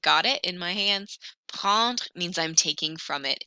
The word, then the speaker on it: prendre: Here's how you pronounce it. Prendre, prendre, je prends, tu prends, tu prends, il prend, elle prend, on prend.